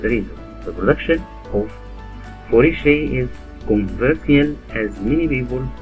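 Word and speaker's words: foie gras: Fourragère, literally fat liver in French, pronounced fourragère, is a food product made from the liver of ducks or geese.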